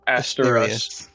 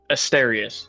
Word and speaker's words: Asterius: So, if um God, your name is hard for me to pronounce. Aster. Asterius.